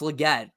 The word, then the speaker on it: Legette: and yeah yeah gell completely mispronouncing he said Li it's Legette good pick for Carolina